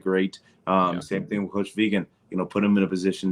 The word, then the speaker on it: Vigen: Vegan.